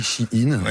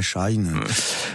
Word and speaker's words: Shein: il s'appelle chi in ça s'écrit bien chi in c'est pour ça qu'on dit ch in non pas Shine voilà donc in dedans